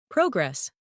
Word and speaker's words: progress: Repeat these pairs after me and notice which syllable is stronger. Comfortable, not comfortable. Decert, noun, versus decert, verb. Progress, noun, versus progress, verb.